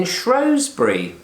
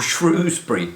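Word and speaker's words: Shrewsbury: of March 2019 and I'm up in shury or shrewbury depending on how you want to pronounce it e um yes well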